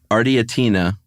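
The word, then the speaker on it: Ardeatine: the pronunciation right here the ardia Tina Massacre okay you don't agree yeah no I think you nailed it actually that's not what I would have said but I I would have gotten it wrong I think you got it it's a-r-d-e-a-t-i-n-e well and this is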